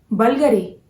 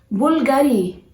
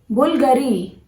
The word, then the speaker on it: Bulgari: Well, this brand, how do you pronounce it? Bulgari. No, guys, this is not Bulgari. You have to pronounce this brand as Bulgari. Bulgari.